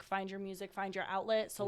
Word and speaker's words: Owtlet: So the outlet, you spell it like OWT. It's like almost like an owl, but where does that come from?